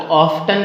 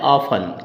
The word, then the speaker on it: often: आप इसको ऑफ्टन कहते हो, है ना, जबकि ऑफ्टन नहीं होता दोस्तों, ये होता है ऑफन।